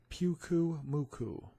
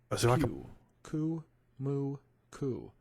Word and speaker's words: Pyukumuku: In today's video, you are going to learn how to pronounce Pyukumuku. Pyukumuku.